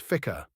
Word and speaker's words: FCR: Today, the flight control room is called the FCR, pronounced ficcer.